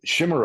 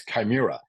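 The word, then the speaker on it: chimera: they chase a shim or the the right pronunciation is Chima it's funny because I Shima I thought is this word that existed my son you know corrected me a year ago Dad it's chimira which means an illusion an unobtainable goal something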